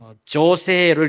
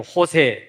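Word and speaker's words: José: 그 예를 들어서 이제 스페인이라든지 이쪽 계열의 사람들 이름을 보면 J로 써놓고 그냥 히읗으로 읽습니다. 조세를 읽지 않고 호세, 예를 들어 이렇게.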